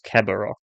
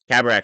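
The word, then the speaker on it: Karrde: to capture you anymore the pronunciation I'm seeing here is cabaro that doesn't sound familiar soundar cabar that's it cabar the name that's yep cabak I don't know why it has an o for the last vowel for the last bit for the pronunciation yeah cabar that that's that's it from the book from the audio book anyway yeah so cabar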